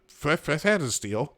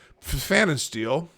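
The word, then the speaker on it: Pfannenstiel: CNN's Wolf Blitzer and Abby Phillip, as well as the Des Moines Register's Brianna Fanasteel. It's with a P, but I think the P is silent. Fanasteel will moderate the debate at Drake University in Des Moines, Iowa.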